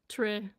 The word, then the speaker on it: Tricia: but it because um the way my name is spelled is not how it sounds. So, but this is how it sounds. Trisha.